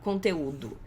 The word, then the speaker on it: conteúdo: Aqui, ó, conteúdo. A gente sabe que o U é a parte mais forte da palavra por causa do acento.